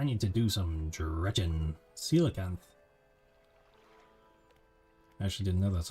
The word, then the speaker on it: coelacanth: The coelacanth.